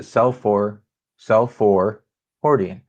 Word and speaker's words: Seolfor Hordian: He says he pronounces it Seolfor Hordian. I like that. That's an easier way to say it, I'm sure.